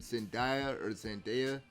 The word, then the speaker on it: Zendaya: this movie, I will say, Tom Holland and Zendaya, I believe that's how you pronounce her name, they have great chemistry and everything like that.